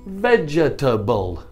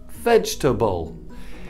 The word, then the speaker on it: vegetable: for example vegetable and many students pronounce the vegetable vegetable but this is wrong because this vowel e is silent but if you look at the phonetics vej Turnbull vegetable it also tells us